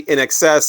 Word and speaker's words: INXS: knows that not everybody I've heard these guys called INXS which again if you're just reading it you don't know I mean they are in all caps but it is actually in excess as to be in excess of something uh Tom Araya Tom